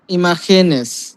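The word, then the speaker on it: imágenes: ইমেজ ইমেজ ইমাজিনা ইমাজিনাস না এটাকে উচ্চারণে উচ্চারণ হবে ইমাখেন যেটা হয়ে যাবে খে ও আচ্ছা আচ্ছা ইমা ইমাস ইমাখেনেস দেলাস পালেব্রাস মানে এই ওয়ার্ডগুলোর মধ্যে পালাব্রাস হ্যা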